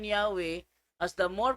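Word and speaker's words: Yahweh: Translation February 9, 1950 while inclining to view the pronunciation Yahwe as the more correct way we have retained the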